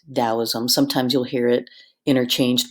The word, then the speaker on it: Taoism: what you're talking about, it's pronounced more with a D.